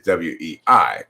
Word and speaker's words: Wei: Your husband is Chinese, so your last name is W-E-I, pronounced Wei.